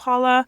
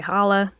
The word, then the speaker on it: challah: So you can really pronounce it a couple of different ways. You can say challah, you can say challah, you can say challah. I think most people gravitate towards challah. They're all correct.